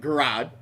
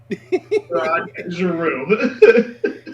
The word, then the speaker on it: Giroud: I would have pronounced that Garad. Giroud.